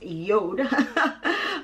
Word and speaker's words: Jord: Okay, so this watch company is spelled JORD, but it's actually pronounced JORD.